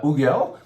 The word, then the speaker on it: Hugel: This is the Hugel, that's how you say it.